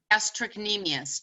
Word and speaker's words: gastrocnemius: It's pronounced gastrocnemius, Gastrocnemius, gastrocnemius.